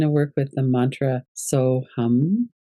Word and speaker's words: Soham: We're going to work with the mantra So Hum. It's written SOHAM, but the HAM is in Sanskrit, it's pronounced hum.